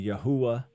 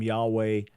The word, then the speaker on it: Yahweh: is is pathetic so this is allegedly the real pronunciation of the Divine name that it was originally yahwa and that so so the the name Yahweh or as it was traditionally pronounced in English before that Jehovah that is now yahwa there there is absolutely no basis for that there is no philological basis in other words there